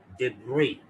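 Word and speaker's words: debris: ये वर्ड है जिसमें एस साइलेंट, एस साइलेंट है, और इसको क्या पढ़ते हैं? डेब्री, डेब्री, डेब्री। एस की आवाज नहीं निकलेगी, साइलेंट, डेब्री।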